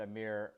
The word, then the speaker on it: Amir: And that's literally the first time I've heard that Amir rhymes with chief engineer, and I can't believe I never thought about that.